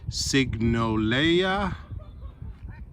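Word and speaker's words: Sigonella: with a s uh I don't speak Italian so signa that could be how it's pronounced but s i g o n e l a.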